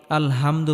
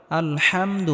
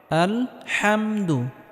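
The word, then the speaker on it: الحمد: আলহামদুলিল্লাহি রাব্বিল আলামিন এখানে আমরা বড় হা উচ্চারণ করব গলার মধ্যে হালকা চাপ দিয়ে উচ্চারণ করতে হবে আমরা অনেকেই আলহামদু পড়ি আলহামদু এটা হবে না আলহামদু হবে আলহামদু লিল্লাহি রাব্বিল আলামিন এখানেও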